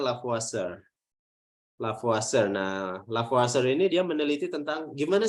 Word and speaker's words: Lavoisier: Prancis namanya kayak gini tulisannya tulisannya lavoisier Tapi bacanya la puasa ini dia meneliti tentang